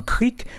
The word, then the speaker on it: Crique: En Guyane française, les rivières se prononcent creek comme en anglais.